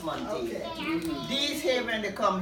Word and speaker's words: Montague: I pronounce my name Montague. You know this Montague? Yeah, if you go to Guyana, it's pronounced Montague.